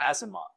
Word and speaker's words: Asimov: Oh God, Asimov. Hey, there we go. Z. I just gotta think it. I gotta think it's spelled with a Z.